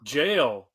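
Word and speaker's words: gaol: the JS of J how do you say the second G Jail jail oh you just say it that's just old spelling yes yeah okay the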